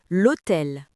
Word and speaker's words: l'hôtel: Le mot hôtel, il commence par un H muet. L'article est donc elle apostrophe. On dit l'hôtel mais c'est un nom masculin.